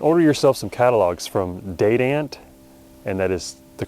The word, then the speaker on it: Dadant: online or and Order yourself some catalogs from date ant and that is the correct pronunciation it's not de don't um and man Lake man those two are